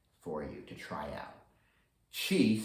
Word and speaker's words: Qi: Today I chose Qi and OCD. And it'll include a little Qigong movement at the end for you to try out. Qi, spelled Qi, is the animating energy of life.